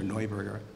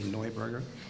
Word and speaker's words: Neuburger: There's the Neuburger family, has already been mentioned, or Neuburger. My wife keeps telling me to pronounce it correctly, Neuburger.